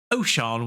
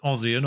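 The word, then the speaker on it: Osian: And here he is, and on the basis that the name Sian, S-I-A-N, in Welsh is pronounced Sian, I'm going to go with O'Sian Williams as the pronunciation there, rather than Ossian or whatever it would be phonetically, just reading it in pure English.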